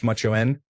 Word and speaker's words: Macan: Macan pronounced machoen in Tamil is similar to homeboy in English but it also refers to a brother-in-law conveys a strong emotion.